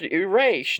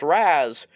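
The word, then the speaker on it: Ra's: Now, I know before people, yell at me in the comments, it's pronounced Erase. No, it's pronounced Raz. It really matters on who is making it and who decides to make it a different pronunciation.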